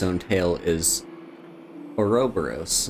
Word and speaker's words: Ouroboros: A minor detail, but a snake devouring its own tail is Ouroboros, not Ouroboros. Ouroboros, not... Yeah, whatever. It's pronounced away, and also, if this were me IRL, I would not know.